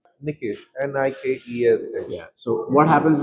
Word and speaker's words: Nikesh: So my actual stress goes on K.